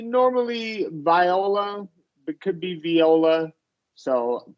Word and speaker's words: Viola: If it's an instrument, it is pronounced viola. If Yeah. it's a name, we normally say viola.